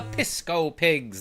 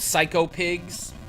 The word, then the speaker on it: Psycho Pigs: and watch out for the pisco pigs. That's how my brother and I pronounced it when we were very young. But yeah, the pigs in this game are called psycho pigs.